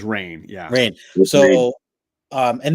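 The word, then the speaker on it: Rahne: of uh is it is it ran or rain how do you pronounce it I pronounce it as rain yeah rain so um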